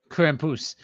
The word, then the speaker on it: Krampus: Say it right. Krampus. Krampus. Yeah, there we go. As in plus, as in Puss in Boots.